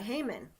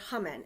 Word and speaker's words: Haman: And there's part of me that's even the bad guy, Haman, or Haman, as you know, no matter what you want to pronounce it.